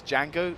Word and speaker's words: Django: your tracks hey hey django oh i love that film as well technically it's django the d is silent but um i love